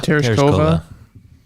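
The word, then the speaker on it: Tereshkova: I'd like you to pronounce her last name. Teresa. Terasova. Terasova.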